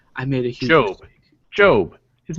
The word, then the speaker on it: Gob: Job. His name is Job. It's Gob. Job. It's spelled Gob. We pronounce it Job.